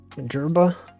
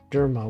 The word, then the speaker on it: Jerma: That's not, he didn't even say the name right. It's so wacky. He pronounced it wrong.